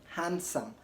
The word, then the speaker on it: handsome: is a handsome boy don't say handsome boy rather ignore the pronunciation of the D in handsome and say handsome handsome not handsome rather handsome he's a handsome boy okay